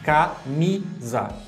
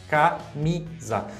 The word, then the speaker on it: camisa: Então, a sílaba tônica no Mi fica camisa.